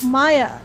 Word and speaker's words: Mayja: whoa world of uh maya okay so maya and that's how it's pronounced i know there's a j in there uh but think of